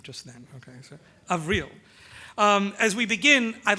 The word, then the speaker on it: Avril: For those of you, I only just learned how to pronounce the first name just then. Okay, so Avril.